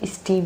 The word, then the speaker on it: stem: इस स्टेम के बारे में पढ़ेंगे ना कि हम स्टीम के बारे में पढ़ेंगे। ठीक? तो सबसे पहले हम अपना प्रोनाउंसिएशन ठीक करेंगे कि इसको पढ़ते क्या है? तो इसको हम पढ़ते हैं स्टेम।